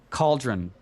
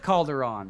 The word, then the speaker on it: Cauldron: and Cauldron, right? Yes. I said it right? Oh, there we go. Calderon. The first time I said it, I called it Calderon.